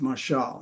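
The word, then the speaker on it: משל: their dark sayings now this word proverb is the Hebrew word pronounced masal and it is the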